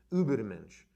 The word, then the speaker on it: Übermensch: And that sort of like came to this dramatic conclusion in the concept of the Übermensch, or if we say it properly in German, it'll be Übermensch.